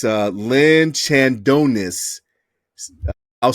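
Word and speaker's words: Chandnois: career leader of Michigan State his is Lynn Chad non Lynn Adonis or sorry if I'm butchering your last name sir but it's uh Lynn Chandon I'll spell that for you guys it's c h n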